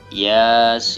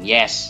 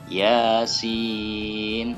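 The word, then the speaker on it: يس: Nah, selanjutnya Yasin ya, bukan yes ya, tapi Yasin.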